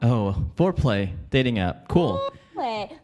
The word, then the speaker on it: Fourplay: Fourplay. But it's spelled like F-O-U-R, like four.